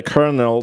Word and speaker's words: colonel: And then the rumors spread that I had abandoned the colonel to his fate. And that was court marshaled. The Isn't that how you pronounce it? Like it's like key ker n. Colonel. Colonel. Right.